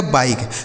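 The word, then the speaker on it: bike: इस आई का उच्चारण क्या करेंगे? आई तो हो गया बाई और के और इ से हो गया क। यह लिखा गया आपका बाई। इसे क्या पढ़ा जाएगा? बाइक।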